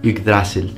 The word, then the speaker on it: Yggdrasil: stunning set, which represents Yggdrasil, or to be more correct with the pronunciation in Old Norse, Yggdrasil, the immense mythological tree that connects the 9 worlds.